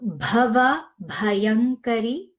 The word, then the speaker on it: Bhava Bhayankari: Bhava Bhayankari, and this is the BH, so it's pronounced with a strong aspiration of H, bha, as opposed to ba. So Bhava Bhayankari.